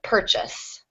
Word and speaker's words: purchase: purchase purchase yes so the stress will go on the first syllable um but because of